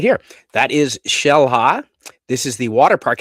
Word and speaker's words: Xel-Ha: Uh they've got uh the Shellhala Water Park is right there.